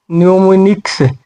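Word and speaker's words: mnemonics: में आ गया और एन के पहले एम आ गया तो इसको एम को साइलेंट रख देंगे तो इसका हो जाएगा न्यूमी न्यूमिनिक्स तो इसका मतलब होता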